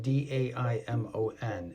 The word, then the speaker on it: daimon: That's spelled D-A-I-M-O-N, and it's pronounced daimon.